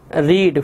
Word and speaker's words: read: अच्छा जी उसके बाद है जी Samreen dash रीड five stories by द एंड ऑफ the week. ये पास्ट परफेक्ट का हैड रेड, हैड रेड, pronunciation change हो जाती है लेकिन स्पेल वही रहते हैं.